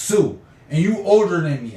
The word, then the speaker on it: Sioux: When you saying Sioux X because it's spelled Sioux, but it's really pronounced Sioux, and you older than me, and I say, hey, you know what?